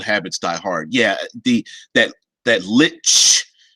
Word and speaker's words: lich: Vince says, of course, in the chat, in German, you pronounce the ch way more. That is how I pronounce it mostly. Old habits die hard. Yeah, that lich sound as opposed to lick.